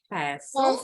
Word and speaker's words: pestle: using Tadi bacanya silent T. Pestle pestle and mortar.